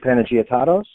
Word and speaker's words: Panagiotatos: more about me um my name is panagot and yes that's how I pronounce it I've been with Lexus Nexus since